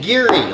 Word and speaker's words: Garioch: show before a glenn gary 12 year old glengarry single malt scotch whiskey straight from uh scotland you say gary like cheery but gary glenn eerie